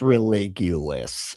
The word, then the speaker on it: Religulous: as it is all framed to it's pronounced religulous.